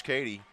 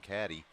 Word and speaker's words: Cady: Another stop by Josh Cady. I had to add his last name to our pronunciation chart this week after I heard a broadcaster call him Caddy last week.